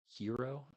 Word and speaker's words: gyro: that is, and also I've never learned how to pronounce that word, gyro, but I think it's uh hero is what people say, but I say gyro because that's what it looks like.